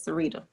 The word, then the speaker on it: Sarita: Is it Sarita or Sarita? It's spelled Sarita, but it's Sarita.